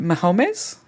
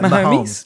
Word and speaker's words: Mahomes: and will anybody stop do you is it Mahomes Mahomes how do you say that no it's uh momes Mahomes momes yeah momes this season uh this